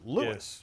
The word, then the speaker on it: Louis: Isn't it funny how Lewis, emphasis on the first syllable in Lewis. Lewis.